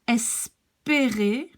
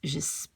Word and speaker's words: espérer: So if you have an accent, you see, from the bottom going up, then you pronounce it like E. If it's going down like here, you call it E. You pronounce it E.